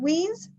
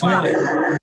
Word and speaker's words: Wines: Leon said is it Weens? Did I say it wrong again, or Weirs? It's wine. Wine.